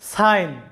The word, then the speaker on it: sign: জিটা থাকার কারণে আই এর উচ্চারণটা হয়েছে আই এরকম, কিন্তু জি এর কোনো উচ্চারণ এখানে হয়নি। SIGN, সাইন, আমাদের উচ্চারণটা আসবে সাইন, যেটার বাংলা অর্থটা হচ্ছে চিহ্ন।